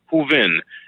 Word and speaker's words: Hooven: Allison is spelled A-L-L-I-S-O-N. I'm sorry, Hooven. It's Hooven, H-O-O-V-E-N.